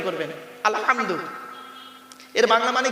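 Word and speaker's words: الحمد: নামাজ পড়তে গিয়ে কি বলি আলহামদুলিল্লাহি রাব্বিল আলামিন আলহামদু গলার ভতর থেকে উচ্চারণ করবেন আলহামদু এর বাংলা মানে কি আলহামদুলিল্লাহ মানে হচ্ছে সমস্ত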